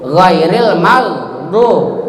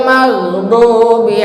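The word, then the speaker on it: الْمَغْضُوبِ: Jadi bacanya bukan ghairil magdu, ghairil magdu. Ya. Jadi di ujung tenggorokan, jangan dikolkolakan. Ghairil maghdubi alaihim, jangan ghairil magdu, itu dikolkolahkan, salah itu bacanya.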